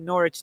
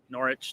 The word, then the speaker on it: Norwich: of the wolves uh norwich did you see any of it and karen don't don't bother telling mark the the silent w no i don't know who doesn't norwich i don't i don't